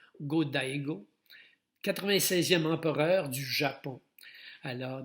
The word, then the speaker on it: Go-Daigo: Je ne suis pas certain comment on prononce ce nom, mais on prononce généralement toutes les voyelles, donc Go-Daigo, 96e empereur du Japon.